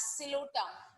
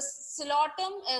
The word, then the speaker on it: Psilotum: Only one living genus is there, and that is known as Psilotum. P is silent again.